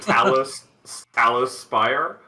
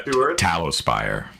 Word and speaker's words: Talospire: Two, to clarify, they said Talospire. Yeah, Talospire. Like candle tallow.